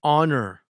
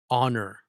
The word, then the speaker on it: honor: Meeting the president was an honor, not a honor, but an honor, because the H is silent.